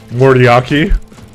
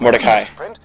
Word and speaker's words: Mordecai: Mordiaki. Hell yeah! Oh, you. How do you say his name? I'd like a better one before my own Mordecai.